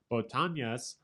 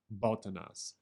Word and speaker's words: botanas: translates this as snacks it was botanyas b-o-t-a-n-a-s botanias rhymes with montagnas although i don't think so because i the end in montana has the tilde above it so i think it's more like botanas and montagnas let's listen to somebody